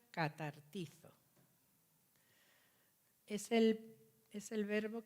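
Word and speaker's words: καταρτίζω: Hay un verbo que emplea Pablo aquí, que en griego se llama o se pronuncia catartizo.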